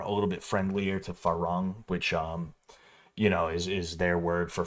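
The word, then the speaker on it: ฝรั่ง: They pronounce it like Falang or some shit like that.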